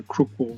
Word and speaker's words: Crookwell: somewhere it becomes the Crookwell Road. Crookwell is spelled C-R-O-O-K-W-E-L-L, Crookwell, but it comes out Crookwell for most people.